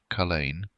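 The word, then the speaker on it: Culzean: and the supernatural entwine culian Castle pronounced Cain stands near the town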